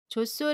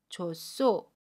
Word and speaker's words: 좋소: 시 오수로 발음 해요 좋소 를 예를 들면 아침 히 흙과 첫소리 자음 시 옷이 맞나요 그러면 clc 철 소리로 이동을 해서 쌍 c5 수 로 발음합니다 그래서 좋소 좋소 라고 발음 해요 우리 희의 시 들어간